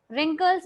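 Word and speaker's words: wrinkles: मतलब होता है बचपन रिंकल्स इसमें आपको W silent his will speak gas रिंकल्स ठीक है इसको बोलते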